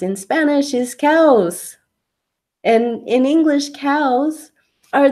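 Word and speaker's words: caos: says Kaos of course the way Kaos is pronounced in Spanish is cows and in English cows are those animals that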